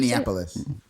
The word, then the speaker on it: Minneapolis: Minneapolis.